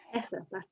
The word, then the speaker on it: Hesse: Hesse, that's the pronunciation.